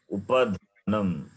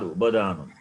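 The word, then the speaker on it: उपधानम्: Upadhanam, not Ubadhanam. Upadhanam. Upadhanam. Upadhanam.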